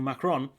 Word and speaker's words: Macron: by french president mackie or emmanuel maro klein pronounced his name emmanuel macron who recently called for the eu to forge